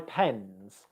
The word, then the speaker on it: pens: i could say my pens so in this scenario pens okay this is plural and here it's pronounced as a z sound okay pens so what